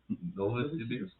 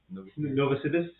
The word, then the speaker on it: Novosibirsk: Oh, and this is how you pronounce that city. I would Say it again. Novosibirsk. Novosibirsk.